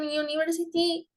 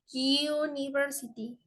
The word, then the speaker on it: University: y no an okay A pesar de que empieza con con vocal con la u ya con su pronunciación suena suena como si fuera una J o una y una y invisible Sí entonces suena University University Okay Ese es un